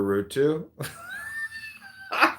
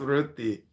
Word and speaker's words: Rutu: Her name is Aruti, and I was calling her Rutu. But her name is pronounced Ruti. Ruti, R-U-T-I. R-U-T-U is how she spells it, but she says it's pronounced Ruti.